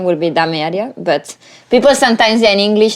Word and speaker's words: Dame Area: This this name pronounced really bad. Yeah. De Maria de Maria Daria and people ask you what it means.